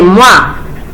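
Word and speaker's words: Moivre: se llama fórmula de mar se escribe así muy secreto se pronuncia fórmula de mar que nos dice esa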